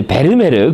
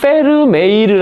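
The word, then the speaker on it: Vermeer: 베르메르 많이 그죠 하는데요 원래 발음은 그 페르 그 그죠 페르메이르 아고 합니다 그 네덜란드식 발음으로는 요하네스 페르메이르 우리는 이제 베르메르 베르메르 하는데요 그죠음 영어 식으로는 베르메르 베르베르 하는데요음 그래 130페이지 베르메르는 또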